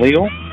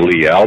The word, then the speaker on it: Leal: Yep, and just a quick FYI, next week on Thursday, we'll be joined by Nathan Leal for the whole 3-hour show. Or Leal, depending on how you want to pronounce it.